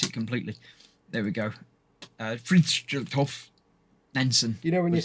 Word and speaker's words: Fridtjof Nansen: I've got no idea how to pronounce this. It's Fridtjof Nansen.